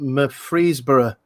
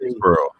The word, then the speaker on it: Murfreesboro: At you might correct me on the pronunciation, Murfreesboro in Tennessee. Murfreesboro.